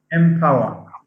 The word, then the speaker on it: empower: e and the prefix en but we don't pronounce it in power what do we say instead empower now how would one explain the the sound